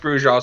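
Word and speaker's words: Brujah: If you ask the Bruja, I'll use the proper pronunciation because that's how it's pronounced in this time period. That's what I keep saying, but nobody. In this time period, it was pronounced Bruja, so I'm going with it.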